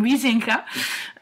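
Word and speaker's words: Huizinga: pas assez d'histoire donc on a l'historien hainkka en français plutôt prononcé comme wienka euh qui a connu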